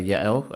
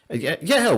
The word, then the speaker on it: Yael: So that that's great stuff there Yael. Um Yael, where where is that name from? Yeah, and you're pronouncing it very beautifully.